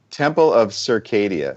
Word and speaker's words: Temple of Circadia: one again for me temple of circadia so okay you know you know uh the phrase that your circadian rhythm yep um your sleep